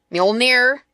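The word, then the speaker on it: Mjölnir: I always ask my husband, I'm like, the hammer that sounds like meow, meow.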